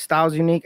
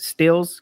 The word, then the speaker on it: Stilz Unqe: Everything is styles unique. It's most people pronounce it steals because the way I spell it, it's st i z n iq.